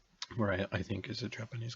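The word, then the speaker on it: Moriya: So I would ask you to pronounce this. Well, Zeloshinsky-Moria interaction. Zeloshinsky-Moria interaction. Zeloshinsky is a Russian last name. Moria, I think, is a Japanese guy.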